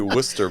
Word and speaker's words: Worcester: It's actually Worcester, believe it or not, but it's spelled just like Warchester. So, it's a it's a strange Massachusetts thing.